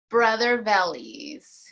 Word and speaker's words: Brother Vellies: has a successful line called make sure I pronounce it right you say brother valleys okay brother bellies and she makes wonderful shoes and accessories so